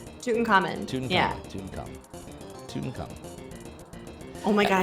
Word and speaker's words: Tutankhamun: Tutankhamun? Tutankhamun.